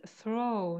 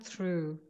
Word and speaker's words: throw: Yes, but the pronunciation is throw, not through. Through is the past form of throw. It's throw, through, thrown.